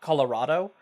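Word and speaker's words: Kolorado: great archaeologist Explorer uh Colorado I always get trued over that I want to think it's it's pronounced differently but it is just like the state Colorado with a K with a K he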